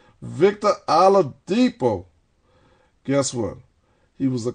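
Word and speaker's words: Oladipo: right this boy with this New Orleans accent pronounced it right Victor alipo guess what he was a co- big player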